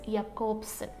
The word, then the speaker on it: Jakobson: See, the right pronunciation is Jakobson.